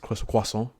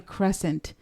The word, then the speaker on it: Crescent: It's actually pronounced croissant. Oh my goodness. No, it is not. It is actually Crescent.